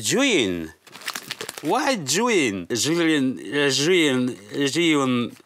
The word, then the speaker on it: Zhiyun: How to pronounce Zhiyun? How? Zhiyun. So this is the correct pronunciation. Zhiyun.